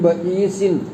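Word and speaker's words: بئيس: ബഈസിൻ എന്ന് പറയുമ്പോൾ നൂനിൻ്റെ അവസാനിക്കുക. ഇവിടെ അടിയിൽ ചെറിയൊരു മീം ഇങ്ങനെ കാലടിയിക്കാക്കിയിട്ടിരിക്കുക. അപ്പോൾ ആ നൂനിൻ്റെ ഉച്ചാരണം കേൾക്കൂല, മീമായിട്ട് മാറും എന്നുള്ളത് നമ്മൾ പറയില്ലേ, നൂനിനെ മറിച്ച് മീമാക്കി.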